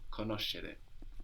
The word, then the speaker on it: conoscere: The she sound in conoscere is spelled S-C-E. So we've seen how C-E gives us che, but S-C-E gives us she, like in conoscere.